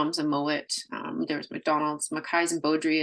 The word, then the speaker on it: Mowat: I almost said it with kind of my Manitoba accent. I kind of slip in and out of that. Mowat. Yeah, it's actually how it's said in Scotland, is Mowat.